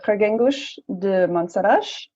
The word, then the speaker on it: Reguengos de Monsaraz: I'm in a little town called Reguengos de Monsaraz. I'm trying to pronounce that as Portuguese as I can.